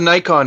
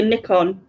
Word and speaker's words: Nikon: It was like, that's a Nikon, right? Yeah. Well, we say Nikon, but you say Nikon. Yes. Nikon. No, actually, Nikon. You're saying it right, because I think the Japanese say Nikon.